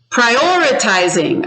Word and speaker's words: prioritizing: Which syllable is it on? 1, 2, 3. Prioritizing. So hold up your fingers. I see Edie saying 2. Do you agree? 2. Prioritizing.